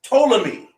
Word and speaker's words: Ptolemy: with eight symbols but but ptolemy the p silent so it's ptolemy they're even taking latin